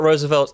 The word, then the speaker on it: RSVLTS: There is it's not spelt Roosevelt in full. It is spelt RS.